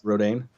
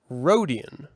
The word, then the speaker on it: Rodian: That's Rodane. Rodane? I never pronounce Aren't it. That's they not called an Rodian? That's not an Neimoidian. No, that's like not Neimoidian. Rodian.